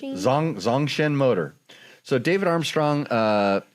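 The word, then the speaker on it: Zongshen: Uh the NC450 Zagasheen motor. Hey, you're you pronounce it as good as I could. Say it again. Zagasheen. Zong Zong Shen Motor.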